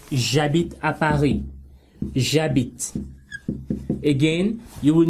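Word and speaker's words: j'habite: of this silent h the h is silent that means it's like it doesn't exist right and if the h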